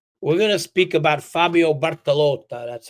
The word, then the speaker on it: Bartolotta: We're gonna speak about Fabio Bartaloth.